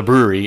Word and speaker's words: Bruery: That's the name of the brewery is the brewery, and it's not spelled brewery. It's spelled BRUERY.